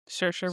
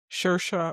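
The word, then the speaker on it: Saoirse: Also, okay, side note, um, how do you pronounce her name? Sersa Sersa Ronin. Shersa Ronin.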